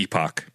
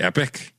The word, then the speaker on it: Epoch: the epoch or the epic depending on how you pronounce it from Chrono Trigger.